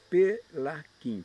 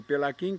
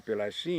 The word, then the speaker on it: Pelaquin: E em italiano se escreve Pelaquim com CH, que no Brasil se pronunciaria Pelachim. Para não se pronunciar Pelachim, meu pai aportuguesou meu nome com Q-U-I-N.